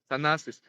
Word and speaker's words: Thanasis: Thanasis.